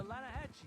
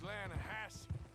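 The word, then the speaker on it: Lannahechee: no no no no no no the the lahache it runs right near here yeah but it's pronounced lanahassee why is everything in English said differently than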